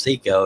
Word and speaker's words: Seiko: right see more so seiko's actually pronounced Seco he just doesn't correct people he's out of rock